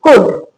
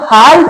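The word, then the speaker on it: could: सी ओ यू एल डी कुड इसको हाल नहीं बोलेंगे।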